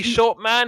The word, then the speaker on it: Shortman: Hey, short man. Hey, short man. But yeah, well, I mean, but it's pronounced Shortman. So it's kind of it's Arnold Shortman.